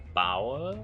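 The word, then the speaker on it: Baur: correctly i don't know it's the spell b-a-u-r bower bow so he's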